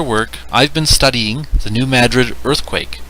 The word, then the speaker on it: New Madrid: Yes, New Madrid is the correct way to say it.